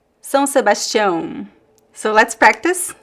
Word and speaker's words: São Sebastião: Vamos pronunciar São Sebastião. So let's practice. Not two nasal sounds here. The diphthong ão. São Sebastião.